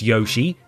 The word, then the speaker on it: Yoshi: But let's talk about Yoshi, or Yoshi if you want to get different pronunciation about this.